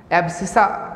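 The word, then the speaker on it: abscissa: देखिए एब्सिका क्या होता है, x कोऑर्डिनेट को एब्सिका बोलते हैं और y कोऑर्डिनेट को ऑर्डिनेट बोलते हैं। ये 9th-10th क्लास मैथ्स में बताया जाता है। एब्सिका मतलब x, एब्सिसा बोलते हैं, आप प्रोनाउंसिएशन की बात है।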